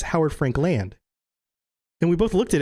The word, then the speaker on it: Howard Frankland: what and she's like it's not for Howard Frank Lin like a name its Howard Frankland and we both looked